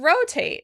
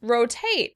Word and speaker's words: rotate: Next, we have the word rotate. This one really surprised me when I heard there's a British version. The British would stress the second syllable. Rotate. Rotate.